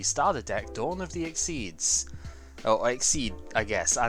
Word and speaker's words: XYZ: You've basically got a rank it's pronounced Exceed.